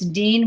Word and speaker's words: Deana: name you know i why they think it's deanna i have no idea it's just dean and uh you know